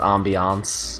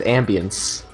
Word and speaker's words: ambiance: It's pronounced ambiance, Jason. I said ambiance. You said ambience. Whatever, man. Like an ambulance. Without the L.